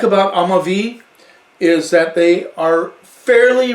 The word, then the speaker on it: Amavi: valley they're amavi amavi it's not a hobby it's amavi kind of like that you know black eyed peas i'm a bee i will be that's how you say it now i'm a v